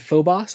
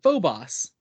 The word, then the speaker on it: Phobos: No, but I swear they pronounced it Phobos. It's Phobos Okay, because no. But in the phobia. Doctor Who audio drama, they pronounced it Phobos. Yeah, that one's wrong. Okay, well, you say it